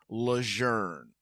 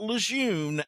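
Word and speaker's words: Lejeune: The big camp in Jacksonville, North Carolina is Camp Lern, not Lune as it is spelled.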